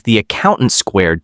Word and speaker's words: The Accountant 2: its numerically stylized title, which Gavin O' Connor said as via 2025 SXSW film festival that he pronounces as the accountant squared to its dizzying and highly engaging opening sequence.